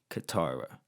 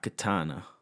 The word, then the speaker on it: Katara: yeah that's another thing apparently i've been saying her name wrong this whole time um it's katara not katana katana i think is